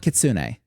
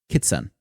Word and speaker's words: Kitsun: it Kitsune H but it's not Kitsune actually because there's no e at the end it's k i TSU n kitson it's probably kitson honestly